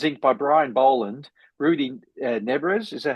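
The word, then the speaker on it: Nebres: And that one's inked by Brian Boland, Rudy Nebrez. Is that how you pronounce it?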